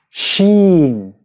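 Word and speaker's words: شين: Sheen. Which is pronounced Sh.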